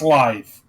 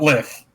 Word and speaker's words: Lith: It's pronounced live. It's pronounced live, not lith.